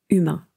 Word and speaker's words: humains: et les droits fondamentaux humains donc attention en anglais on dit human mais en français c'est humain on ne prononce pas le H je répète il continue